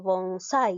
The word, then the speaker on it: bonsai: cerrada siempre se une ya pronunció bonsai y me doy cuenta que la sílaba tónica llega a ser la última sílaba es decir shy por